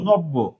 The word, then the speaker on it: নব্য: নৌকার বন বউকারে বউ নব্য। দেখেন এই যে বের সাথে জফলা ছিল এইজন্য ব এর উচ্চারণটা ডাবল হল।